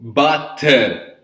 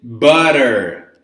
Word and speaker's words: butter: So you don't pronounce letter T. No T. No butter. No butter. Okay? You pronounce it butter, right?